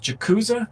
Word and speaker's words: Jacuz: How do you say your name? Jakuza or Jacuzzi? It's Jacuz.